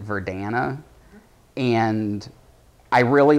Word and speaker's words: Verdana: My favorite typeface, probably, and this is going to sound really nerdy, is, I think you pronounce it Verdana, and I really like